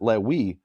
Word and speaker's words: Levi: Now, according to the Yemenites, they don't pronounce it Levi, they pronounce it Lewi. And Lewi doesn't rhyme with Navi.